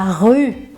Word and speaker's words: rue: Quarto erro, que é uma palavrinha que muita gente erra, que é difícil, que é rua. Em francês, la rue. Ok? Então, tem gente que tem dificuldade de falar essa palavrinha.